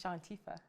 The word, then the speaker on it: Shawntifah: It's Shantifa.